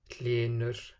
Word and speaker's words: Hlynur: And then, as we've seen already as well, it's dropped when it's part of the word initial devoiced consonant cluster. So when it's written HL, HN or HR. Hlynur, nera, hræðilegur.